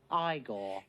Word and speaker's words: Igor: For the New York Rangers, it's Igor Shesterkin. No, it's pronounced Igor.